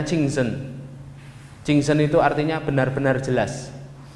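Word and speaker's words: 清真: Ini bacanya Qingzhen.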